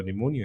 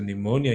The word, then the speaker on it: pneumonia: with the spelling of starts with the letter P but the p is silent okay so pneumonia is spelled p n e u m o n i a p n e u